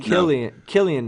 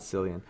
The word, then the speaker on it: Cillian: She also said, I said Killian Murphy. Killian Murphy, not Cillian.